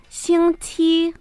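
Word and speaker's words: 星期: Esta palabra tiene una X y una Q. Aquí, ojo, nuestra boca tiene que estar como sonriendo para hacer la pronunciación de ambas. La X, que es la letra con la que parte esta palabra, es como una S larga.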